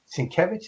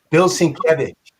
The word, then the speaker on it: Sienkiewicz: His name is Sienkiewicz. That's how you say it? Bill Sienkiewicz.